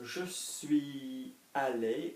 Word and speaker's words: suis allé: So, je suis allé, je suis allé.